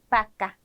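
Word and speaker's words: vaca: 볼게요 자 그다음은 배입니다 배는 읍처럼 발음을 해 주시면 됩니다 그래서 바까 바까 베네수엘라 베네수엘라 비엔토 비엔토라고 읽어 주시면 되는 거예요 자 넘어가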